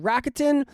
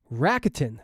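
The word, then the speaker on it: Rakuten: Plus, with Racketin, you can also earn cash back on groceries and other purchases like electronics, pet supplies, and more.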